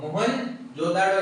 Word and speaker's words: मोहनजोदड़ो: हड़प्पा और कौन सा, ये देखो मोहन जोदाड़ो या फिर मोहन जोदड़ो, जो भी आपका प्रोनाउंसिएशन है। मैं भी इसको मोहन जोदड़ो जोदड़ो अभी तक बोलते हैं, आपको जो प्रोनाउंसिएशन सही लगे बस याद रहना चाहिए कहां